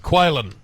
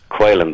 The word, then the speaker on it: Caolan: It's pronounced like the little bird, Caolan. Caolan, that's correct.